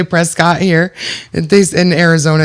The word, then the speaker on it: Prescott: Even though it's spelled Even though it's Prescott. P E S C O T T. It's definitely Prescott. But they say Prescuit.